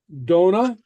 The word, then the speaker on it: dona: a or or you it's pronounced very much like the English Dona which bad or Tai